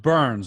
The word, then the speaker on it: Byrns: And it's also very ironic that my last name is Burns. Yeah, it's pronounced Burns.